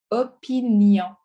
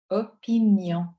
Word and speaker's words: opinion: Écoutez bien comment je le prononce, celui-là. Opinion. Opinion. OK, donc on n'écrit pas opinion. On écrit vraiment opinion. OK, vous voyez la différence?